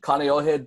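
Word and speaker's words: Kāneʻohe: so Honolulu and then Canio head does have a break in it there is a no kina in the word so I believe it's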